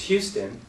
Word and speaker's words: Houston: Well, if you live in Texas and one of the cities is Houston, well, that's how you pronounce it in Texas. But there's also a street in New York City with the same spelling, and it's pronounced?